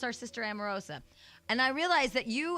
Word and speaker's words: Omarosa: Now, well, Omarosa, is that how you pronounce it? Omarosa. How do you pronounce it? It's Omarosa.